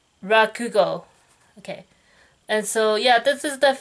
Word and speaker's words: Rakugo: and which is called Rukugo. My Japanese is rusty, so I don't think I pronounce it correctly. It is Rakugo.